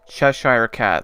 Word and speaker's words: Cheshire Cat: This one I'm not sure how to pronounce. Alice in Wonderland, how do I say that? Cheshire Cat? Cheshire Cat, that's how you say it.